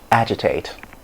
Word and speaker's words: agitate: okay all right so the next word is agitate agitate agitated agitating so it's not agitated it's